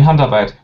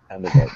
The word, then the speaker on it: Handarbeit: You mean Handarbeit? Yes, thank you. Handarbeit, thank you.